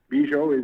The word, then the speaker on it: Bujold: Bujold is Bujold, just like it's pronounced.